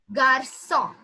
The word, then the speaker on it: garçon: So basically, when we have letter C, cédille, the accent cédille is there with us, we pronounce it with the letter S. The pronunciation goes like so. Okay? Okay. So, yes. So, it is garçon. Garçon, which means a boy. Garçon means boy. Yes, garçon. If the accent C cédille would not be there, we could have pronounced it either garçon maybe, but as it's there, we pronounce it as garçon.